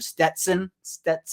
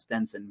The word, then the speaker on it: Stetson: like, Malik Cunningham or Stetson. I pronounced it right. I'm going to flex that I can say it right now because I totally forgot his name was Stetson and not Stenson.